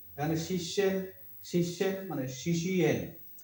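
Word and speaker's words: শিষ্যেণ: শিশের, এটা হচ্ছে দন্তান্ন, শি শি এন, এটা হচ্ছে সংস্কৃত উচ্চারণ। এখানে শিষ্যেন, শিষ্যেন মানে শিশি এন, সংস্কৃত উচ্চারণ হবে শিশি এন।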